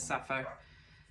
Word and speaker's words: Sappho: You could almost think of Sophia as well, but it says Sappho. That's how you say it.